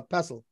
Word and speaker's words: pestle: if it's if I I'm pretty sure the t is silent I think it's a pestle oh yeah it's pencil